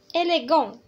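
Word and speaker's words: élégant: إليغون إليغون تي موي يعني غير منطوقة.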